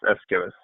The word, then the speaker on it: Aeschylus: Ellis how do you say it oh yes Escalus okay like the donkey is killing you ask